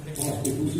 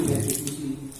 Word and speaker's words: restitusi: waktu mendapatkan Bati cat prostitusi restitusi tidak pakai p di depannya rnya dihilangkan tidak pakai p ya hati-hati membacanya jadi posisi kontrol restitusi nah